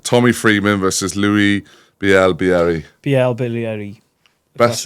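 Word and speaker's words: Bielle-Biarrey: Bilaryi.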